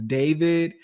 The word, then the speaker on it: D4VD: And if y'all haven't heard of this one singer, his name is David, but you spell it D4VD.